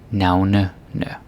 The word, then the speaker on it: navnene: Navnene. But again, like I said before, when you have this ene, like there's no r in the plural, it's very likely that it's going to be pronounced as navne.